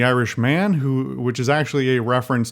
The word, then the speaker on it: The Irishman: The Irishman is, or The Irishman, I should enunciate on this because I think I certainly thought, and I think other people did as well, either based on pronunciation or just not reading, that it was the Irishmen, M-E-N plural, but it's the Irishman, which is actually a